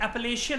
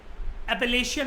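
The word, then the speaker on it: Appalachian: ऐसे ही north America के अंदर जो माउंटेन्स हैं, इनकी प्रोनाउंसिएशन होती है एपलेशियन माउंटेन। मैंने आपको बताया था ये थोड़े टाइम पहले, एपलेशियन माउंटेन।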